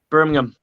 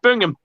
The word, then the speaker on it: Birmingham: near birmingham okay yeah birmingham it's birmingham in alabama yeah you really pronounce every single letter in that we say bingham like it's just bring him now i'm from worcester